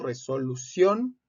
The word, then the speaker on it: resolución: Tenemos aquí estos ejemplos: resolución, la sílaba tónica es la última, por eso se tilda, termina en N.